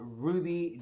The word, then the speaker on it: RWBY: now if you wondering who Ruby is it's weird because I didn't had to look it up to see how you pronounce it but um it's RWBY Y is turn that